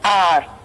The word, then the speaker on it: hour: H is silent here, we pronounce it as R.